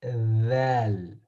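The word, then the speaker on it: ذال: This is pronounced thal. Allow That. It's like a Z that, sound, but it's similar to this letter tha sound.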